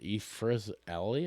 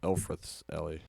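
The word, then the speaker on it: Elfreth's Alley: So this is I can't even pronounce it. Ephra's Alley, I guess. Okay. It's a very Elfrith. colorful block. Elfrith's Alley.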